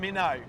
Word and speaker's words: Minto: you pronounce it without the T these days. Yeah, it's Minnow.